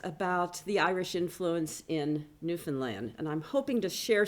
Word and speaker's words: Newfoundland: So if you don't know where and it's Newfoundland, as they tell us, understand Newfoundland. Anyway, that's how it's said.